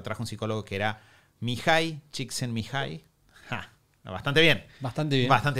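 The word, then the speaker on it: Mihály Csíkszentmihályi: Cómo se escribe igual porque escucharlo solamente suena como que se escribe más fácil de lo que se escribe Claro en realidad voy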